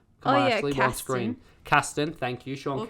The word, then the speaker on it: Casten: Sean Kirsten.